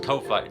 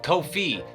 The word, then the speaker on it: Ko-fi: It's pronounced Ko-Fi. No, wait, no. Oh, it's Ko-Fi, like no fee.